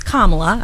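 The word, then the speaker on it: Kamala: the news every day I know how to say it now it's kamla I've got it down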